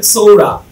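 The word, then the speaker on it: psora: এই দেখেন এখানে পি এস ও আর এরা, এটা পিটা বাদ, এটা হবে সৌরা সৌরা।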